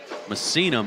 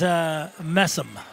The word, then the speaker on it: Messam: It looks like Messam, but I believe it's Messinum is how you pronounce that. You want me to help you? Oh, yes, please. That is Messam.